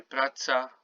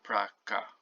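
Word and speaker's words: praca: pretty obvious pool prata so this c is pronounced with s and you say pratza brazza not prakka okay just be clear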